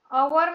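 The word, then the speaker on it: hour: क्योंकि अवर में एच का जो प्रोनाउंस है वो ए ऐसा होता है।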